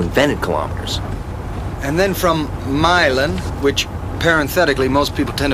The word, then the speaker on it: Milan: And then from Milan, which parenthetically most people tend to mispronounce as Milan, you would stay on the 250 through Norfolk and...